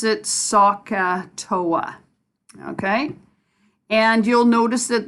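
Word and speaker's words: SOHCAHTOA: so this acronym is a crazy word we pronounce it sokka Toa okay and you'll notice that there's three letters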